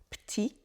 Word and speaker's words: petit: rappeler ici c'est que petit ça peut se prononcer petit et parfois ça se prononce même ti petit petit titit avec